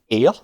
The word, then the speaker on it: heir: And then above blow we have air, as it's spelled as in the heir to the throne. It's phonetically, it's still air.